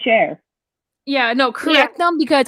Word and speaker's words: Cher: pronounce her name and everybody pronounces it Sher I I went on and I looked for interviews of people pronouncing her name nobody has ever said sheer and I'm like um Shar like yes yes okay we're gonna put this up Stephanie yes okay people this is how you pronounce your name if you pronounce a cheer um you are seriously if you see interviews people say share yeah no corre them